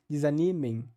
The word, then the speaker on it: desanimem: nós juntamos dois lábios desanimem hum essa consoante nasal final bilabial não existe no espanhol no final das palavras para eles é a